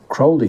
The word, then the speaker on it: Crowley: and other occultists or we should call them Crowley is actually the right pronunciation Alistar Crowley and other